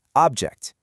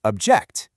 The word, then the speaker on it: object: For the nouns, the stress is up front. Record, present, object. And for the verbs, it moves to the back. Record, present, object.